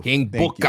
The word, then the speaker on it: Booker: King Booker.